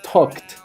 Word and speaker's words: talked: como dice la regla, no se pronuncia como ed, sino se debe pronunciar como una T. Entonces ahí tenemos que el verbo talk en pasado es talked, ¿ok?